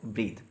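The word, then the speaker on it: breathe: देखिए जहाँ पर हमने यूज़ किया वर्ड ब्रीथ, इसके पीछे ई लगा है, जहाँ पर ई लगी होगी वो वर्ब होता है और उसकी प्रोनाउंसिएशन होती है ब्रीथ।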